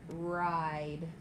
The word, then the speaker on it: ride: Our next word is the word ride. Please finger stretch. Ride. Please fill in the missing blanks. Please write ride on the line below. That silent E is not pronounced.